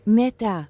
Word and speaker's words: mata: Now, my last name is Machai, but I found out I found out that the translation for mint is mata pronounced like meta.